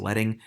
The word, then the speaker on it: leading: to change the leading which looks like leading but it's pronounced letting go to your character